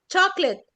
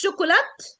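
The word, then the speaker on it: chocolate: الاولانيه الثانيهيهانيه برافو علي برافو برافو جود جوب تشوكليت طبعا ما نقولش شوكولات لا لا لا لا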